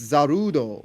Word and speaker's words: Zarude: It's zerude because in Japanese it's zarudo. and like when it ends in do like otherwise it would end in it would end in in day.